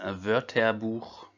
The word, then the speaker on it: Wörterbuch: Das Wörterbuch. Ici, c'est le CH à la fin qui fait R.